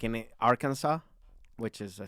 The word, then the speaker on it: Arkansas: it's kind of like saying like like in arkansas which is all right but yeah in spanish if you put if you s it would be arkansas which that's not how it is it's arkansas okay we can further this discussion later oh